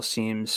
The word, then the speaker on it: Siem: No, but I did double check Marcel Siem's PGA Tour profile page for the pronunciation, and it is Siem.